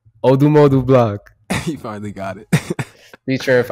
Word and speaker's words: ODMODUBLVCK: Next song, FIREGUN by ODMODUBLVCK. That's how you say his name. ODMODUBLVCK.